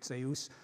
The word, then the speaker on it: Zeus: dyaush, but Greek Zeus, where the dy has turned into a dz, and now we pronounce it z, but it was dz in ancient Greek, Zeus.